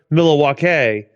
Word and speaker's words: Milwaukee: Other than apparently it's pronounced Milwaukee.